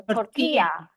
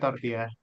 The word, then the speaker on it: tortilla: So it's not, I think the L is not pronounced. So tortilla.